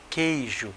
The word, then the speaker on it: queijo: sequestro agora aqui ó Que queijo você não fala a letra U aqui nesse caso queria você não